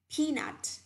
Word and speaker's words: peanut: Watermelon, coconut, peanut. Nhớ đọc là nut, đâu đọc là nút nhá.